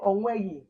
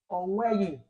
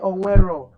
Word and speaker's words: onweghị: You say onweghị. Nke mbụ, onweghị. Onye ọbụla si onweghị. Onweghị. Just like this. Onweghị. That's how you pronounce it.